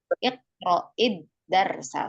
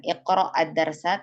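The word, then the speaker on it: اقرإ الدرس: Tadi betul cara membacanya dikasrohkan huruf yang sukunnya. Iqra menjadi iqra'id darsa, sahih ya. Bukan iqra'ad darsa tapi iqra'id darsa, sahih.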